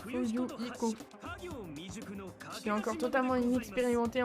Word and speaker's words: Fuyuhiko: Maman, Tony, mon prénom prononce Fuyu Iko.